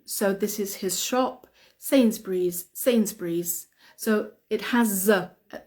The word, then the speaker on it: Sainsbury's: we pronounce it is Sainsbury's sayings Breeze scenes Breeze and we have to say the Z at the end Sainsbury's Sainsbury's so we don't